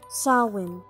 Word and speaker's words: Samhain: significa fin del verano y sé que parece que lo pronunció mal y por más que esté escrito como samhain o sunshine no de hecho se pronuncia así show in bueno se cree que